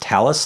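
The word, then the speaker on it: Thales: with talis that's th al es and it's pronounced talus like tal u.s.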